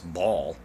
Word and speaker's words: Baal: fan malak and baal well people pronounce it bail i guess today but it's ball um to say it like that it's they used to say ball it was it's